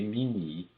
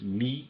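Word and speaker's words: μ: Esse esse G minúsculo que aparece aí com esses subíndices, essas letras gregas mi e ni, né? Eu pronuncio mi ni em português.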